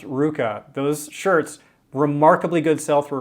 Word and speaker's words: RVCA: Ruka, RVCA, pronounced Ruka.